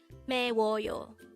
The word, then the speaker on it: 매워요: that your fuit is spicy you can say meoo and with that you've just learned meoo now